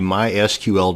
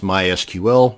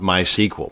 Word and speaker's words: MySQL: mysql database and yes it's pronounced mysql not mysql so the next time you're at a dinner party discussing databases and frankly why would you be at a dinner party discussing databases but that's a different story altogether now you won't sound so much like a dork it is pronounced mysql many applications or scripts